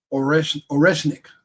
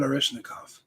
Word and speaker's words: Oreshnik: I think that's how you spell it. Oreshnik, not Oreshnikov.